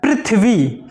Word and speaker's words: पृथ्वी: मात्रा वाला सही है, क्योंकि हमारा जो उच्चारण होता है वो होता है पृथ्वी। पृथ्वी, री की साउंड आती है, ना कि रा की।